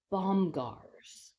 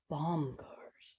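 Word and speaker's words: Bomgaars: Bombgars. Bombgars. It doesn't have a D in it.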